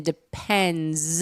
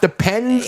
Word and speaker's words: Depend: Okay, we have been saying it wrong our entire lives. It is depend. It's depend not depends.